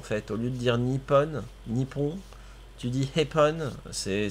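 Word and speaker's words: Nippon: Japonais euh oui dans le sens que tu prononce mal délibérément en fait au lieu de dire Nipon Nipon tu dis hepon c'est c'est c'est néglig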